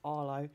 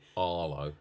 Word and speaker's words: Harlow: gaming is based in harlow but if you're from harlow you don't pronounce the ha because that's way too much effort so it's just arlo arlo because in essex we